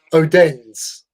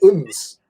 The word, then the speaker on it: Odense: or Odense. Like we pronounce it Odense, Odense sort of thing, which is one of a big city sort of thing. But the Danish call it Uns.